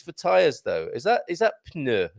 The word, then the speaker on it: pneu: Is that pneu like it is in pneu? Okay, so you pneu. Okay. You pronounce the P and the N. Pneu.